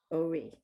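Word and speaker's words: אורי: olive is silent and the vowel is o uri ori so in this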